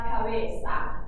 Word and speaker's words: cabeza: There's a Z in this word, and the Z actually just makes an S sound. So it's la cabeza.